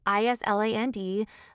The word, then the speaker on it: island: Take the word island. We write I-S-L-A-N-D, but we never say the S. It's just island.